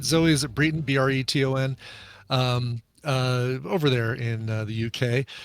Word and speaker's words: Breton: Am I pronouncing that right? Zoe, is it Breton? Breton.